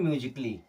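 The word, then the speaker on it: musically: से समझ लीजिए जैसे एम यू एस आई सी A double L वाई इससे पढ़ते हैं म्यूजिकली क्या पढ़ते हैं म्यूजिकली देखिए म्यूजिकली म्यूजिकली यहां पर ए हो गया हमारा साइलेंट क्या हो गया साइलेंट एल ओ जी आई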